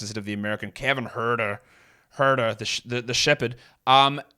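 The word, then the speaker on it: Huerter: I call him H like it should be pronounced as of the American Kevin herder herder the the shepherd um he moved to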